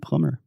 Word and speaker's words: plumber: historical facts today and don't say those bees at the end of words like bomb and dumb and plumber okay okay talk to